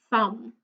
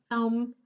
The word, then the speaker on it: thumb: So I'll just give you a few more seconds to tell me which letter is silent in each of the words, okay?